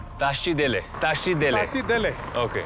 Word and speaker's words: Tashi Delek: it's the morning afternoon or evening you say Tashi Delek Tashi Delek Tashi Delek seat delay okay and what does